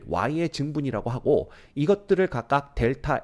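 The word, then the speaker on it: Δ: 요거 읽을 때 어떻게 읽냐 하면 델타라고 읽어요.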